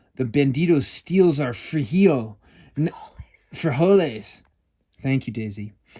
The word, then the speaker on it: frijoles: Frijoles.